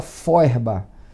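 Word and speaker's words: Feuerbach: é o Von forba se escreve FEB mas se fala forba o forba criou a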